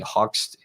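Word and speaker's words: Hoechst: chemical companies Bayer and hoax being hoxed sorry h-o-c-h-s-t is how you pronounce that there's a little Mark a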